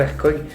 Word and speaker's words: Hercog: Alors, ça se prononce Hercog, pas Hercog. En français, on peut le dire Hercog, mais on va dire Hercog, c'est plus facile à dire.